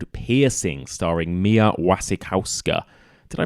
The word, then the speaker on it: Wasikowska: new movie out called a piercing starring Mia Wasikowska did I pronounce that right I always forget Mia Vasek house go Mia Wasikowska yeah he's got a new movie out and